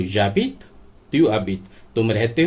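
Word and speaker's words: tu habites: तुम रह रहे हो, तो एच साइलेंट हो जाएगा। त्यू यू ए से कनेक्ट नहीं करेगा क्योंकि यू वोवल है और अबीत का ए भी वोवल है, तो ये वोवल कनेक्ट नहीं करते, तो इन्हें सेपरेट पढ़ा जाता है त्यू अबीत।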